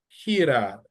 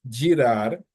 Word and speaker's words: girar: And then you have another word, girar, which is like to turn. So not girar, but girar, girar.